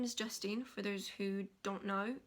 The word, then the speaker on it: Justine: And he called me Justin, like not Justine, like Justine. No, he called me Justin, like the boy name. And I was like, there's an E at the end, please pronounce it.